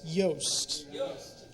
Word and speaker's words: Yost: no boo said booze I thought your last name was pronounced you I was chanting oh it all makes sense now no my last name is pronounced yast y yeah are we